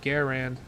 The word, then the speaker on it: Garand: Like I remember what I remember what they said in the Grandanthm video when they were like, "Yeah, that's not how you really pronounce it's pronounced Garand."